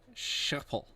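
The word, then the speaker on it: Schiphol: to fly to shopel it's not shopal how do you say it how do you say it correctly nipple shopal shuffle that's right okay so you got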